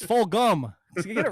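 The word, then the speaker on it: Fulgham: what about those travis fulgin weeks stop saying jump it's full gum you get it right you guys keep say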